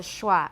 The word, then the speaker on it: schwa: a chi that's why we've got the sch spelling that's the sch so we got it from hebrew through german and it's called a schwa an unstressed vowel and